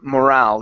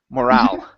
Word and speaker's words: morale: last one here is morale give me a good r instead of moral morale morale good morale is low